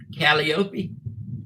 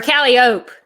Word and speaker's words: Calliope: is pronounced her point calliope yep or callie oak if you've been to mississippi that's how they say it there there's a calliope mississippi